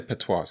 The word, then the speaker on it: patois: This is the big This is one of the biggest ones and it's the How do you say patois?